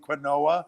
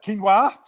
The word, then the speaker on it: quinoa: food is a quinoa we just realized we were pronouncing it wrong all this time how illiterate i am we were calling it quinoa i admit it uh but now i know it quinoa and uh you know